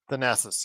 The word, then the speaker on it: Thanasis: How do you pronounce Giannis's brother's name? Thanasis? Thanasis, yes.